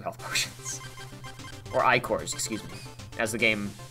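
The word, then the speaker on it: ichors: Or I-cores, excuse me. As the game helpfully informed us they were pronounced.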